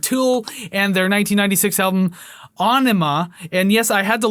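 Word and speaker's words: Ænima: It's Aenima. That's what he said, so that's what I'm going by.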